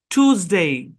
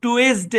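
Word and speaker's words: Tuesday: প্রথম অংশের উচ্চারণ হচ্ছে টুজ। টুজ মানে ব্যাপারটা এরকম, টি আপনার ইউজেড, টুজ, এরকম। টুজ মানে এসটা এস এর মতো উচ্চারণ হবে না, এসটা উচ্চারণ হবে জেড এর মতো।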